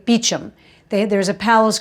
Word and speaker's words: Beauchamp: For instance, they have a street in London called Beauchamp Terrace, right? But it's really Beauchamp Terrace, as in beautiful field. And they say Beauchamp.